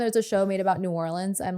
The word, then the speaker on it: New Orleans: New Orleans. Now, how do you say it if you're from New Orleans? New Orleans. No one in New Orleans says.